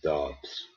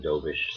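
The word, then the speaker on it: Dobeš: And Monbeau was in, and so was Dobbs, whatever you want to call him. Dobish seems to be the pronunciation I'm hearing a lot.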